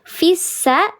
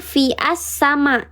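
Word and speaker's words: فِي السَّ: Contoh fissama fissa dibacanya bukan fi asama tapi fissa.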